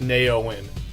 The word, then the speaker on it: NeOeN: of that basically grew into what I call Nao in Chronicles and yes it is pronounced Nao in for those of you who keep asking me